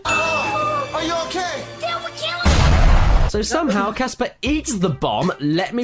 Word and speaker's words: Casper: You're stuck with Cato. That's Casper. Oh my god, he finally said it right.